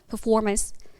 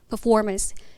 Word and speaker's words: performance: 나는 것들 우리가 알고 있는 퍼포먼스 우리말로 절이지만 Performance Performance 이런 식의 미묘한 차이들이 전부 다 등장하게 있기